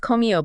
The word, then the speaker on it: Commio: Our friends over at Commio, that's pronounced Commio, by the way, Yeah.